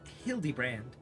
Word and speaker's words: Hildibrand: It's pronounced Hildibrand.